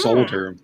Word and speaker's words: soldering: I've heard people pronounce the L that are not from Staten. Soldering. Yeah, I'm like, did he say? Oh, okay. Yeah. Solder, like soldier.